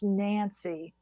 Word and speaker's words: Nance: Actually, I've been corrected and told it's pronounced Nancy. I'm not mhm. sure, but I believe it is actually Nancy, after Nancy Oldsford, the English actress.